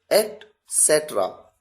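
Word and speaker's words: et cetera: अगला है ईटीसी डॉट एसेट्रा एट सेट्रा ध्यान से सुनिए इसकी प्रोनाउंसिएशन को एट सेट्रा इसका मतलब होता है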